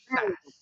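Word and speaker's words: Shaiz: Sass. Sass. S H A S E. He pronounces it sass.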